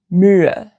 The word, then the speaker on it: Mühe: An example is Mühe, Mühe. Compare that to Müller, Müller. So Mühe ends in Ü, and Müller, Müller ends in L.